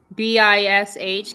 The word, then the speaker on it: Bish: BISH. Can you please mute yourself? Mm. I don't even know how to say the name. Oh, BISA. Bish. Yeah. Like fish, but bish.